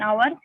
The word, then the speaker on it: hour: an enemy an umbrella an hour in the world h is silent and the word begins